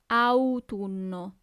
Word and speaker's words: autunno: So you really have to pronunciate those U's, okay? Autunno.